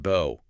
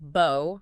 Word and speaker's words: bow: It could be pronounced bo rhyming with go. That's the verb meaning to bend at the waist like showing respect. And it can be pronounced bow rhyming with now or cow.